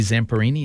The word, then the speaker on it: Zamperini: A great movie, actually 2 movies, true story based on the life of Louis Zamperini, is that how you say his name?